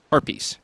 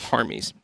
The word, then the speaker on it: harpies: haries will come up harpies is how you say that not haries bastet rotated out a